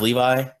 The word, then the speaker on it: Levi: Is it just pronounced Levi? Captain Levi? Yeah, Captain Levi.